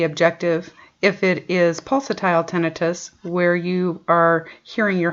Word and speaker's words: tinnitus: we need to clarify before continuing is the pronunciation of tinnitus it is pronounced tinnitus it's spelled t-i-n-n-i-t-u-s it's oftentimes mispronounced as tinnitus